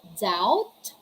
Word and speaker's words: doubt: we have the words doubt doubtful subtle death we're not going to say don't doubtful subtle or depth letter b is silent if this is the case the b comes before the letter t it's doubt doubtful subtle